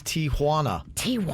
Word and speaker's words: Tijuana: I'm 47 years old and just realized that it's Tijuana.